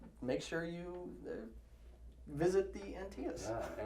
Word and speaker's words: Antaeus: Yeah, it's kind of lame, but Antaeus, come see us. Rhymes.